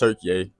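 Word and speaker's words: Türkiye: So, as I told y'all, I came all the way from Texas to Istanbul here in Turkey, or Turkiye. Turkiye. They say it's pronounced Turkiye.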